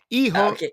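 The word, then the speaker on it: Hijo: E-ho is going to destroy. Eiho. Eho is going right. The H is silent.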